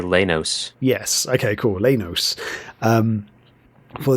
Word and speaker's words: Leynos: How would you pronounce this word? I'd say Leynos.